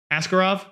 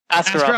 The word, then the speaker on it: Askarov: Askarov? Which guy, sorry? Askarov.